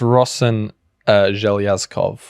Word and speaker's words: Rosen Zhelyazkov: I did look it up. It's Rosen Zhelyazkov, who of course is the Prime Minister of Bulgaria.